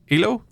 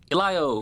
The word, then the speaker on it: Elio: Um, I can never pronounce it. Number eight, the new Pixar. Ilo Elio.